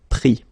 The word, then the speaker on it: pris: Same thing here. Final S not pronounced, so prendre, pris.